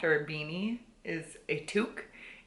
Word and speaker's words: toque: a beanie is a toque. And the way it's spelled is T-O-Q-U-E. If I wouldn't have known what that was prior to this, I would be calling it like a Tokyo or something.